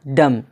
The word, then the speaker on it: dumb: डम, जिसका माना गूंगा।